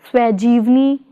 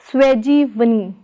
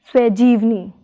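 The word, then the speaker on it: ਸਵੈਜੀਵਨੀ: Prefix swa plus stem jeevni is pronounced as swajivni, not as swajivani, but as swajivni.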